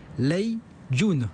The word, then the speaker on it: Lei Jun: L'homme dont on va parler aujourd'hui, Michel, s'appelle Lei Jun, l'ai-je bien prononcé ?